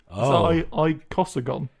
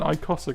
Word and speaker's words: icosagon: how many sides hasn't I can't pronounce it I C O S A gedin there's no he icosagon oh okay an icosagon I'm going to start